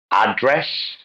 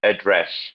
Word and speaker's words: address: example right so uh address and address in all where it's always on the noun it's always the first syllable but on the verb it's always the second syllable produce produce record record